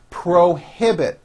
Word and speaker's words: prohibit: longer have a problem prohibit three syllables pro he bit they prohibit the use